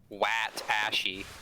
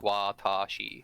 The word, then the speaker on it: watashi: So you wouldn't call it like wat ashy. You'd be like watashi.